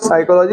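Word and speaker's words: psychology: बोलने में हम लोग साइकोलॉजी बोलते हैं। स्पेलिंग पी से शुरू होती है।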